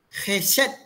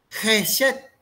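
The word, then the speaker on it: חֶסֶד: veces en la Biblia esta palabra es una palabra hebrea que se dice o se pronuncia jeset jeset la palabra jeet simboliza misericordia o significa misericordia y amor en el Antiguo Testamento jeset tiene principalmente un sentido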